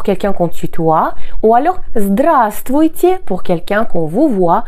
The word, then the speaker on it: здравствуйте: qu'on tutoie, ou alors здравствуйте pour quelqu'un qu'on vous voit ou pour un groupe de personnes. Здравствуй, здравствуйте. Pensez ici que le premier V ne se prononce pas.